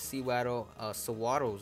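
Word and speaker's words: Sewaddle: right here for these Sawaddles or whatever they're called. I usually call them Seawaddle or Sawaddles. I guess Sawaddle is the correct way to say it because it, you know, the anime said it.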